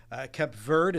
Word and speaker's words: Cape Verde: Cape Verde, as Seba tells me that correct pronunciation.